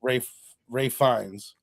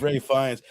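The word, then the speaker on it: Ralph Fiennes: It's got the kid and it's got Ray Fiennes.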